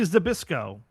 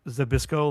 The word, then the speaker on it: Zbyszko: Just for the LOLs now, can you write Zabisco like Nabisco but with a Z in front of it?